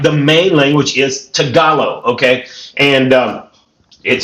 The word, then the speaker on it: Tagalog: Well, in the Philippines, they speak, and I might pronounce this wrong, is Tagalog. If I'm pronouncing that right, the main language is Tagalog, okay?